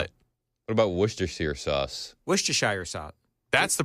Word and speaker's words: Worcestershire: Worcestershire sauce. That's the correct pronunciation.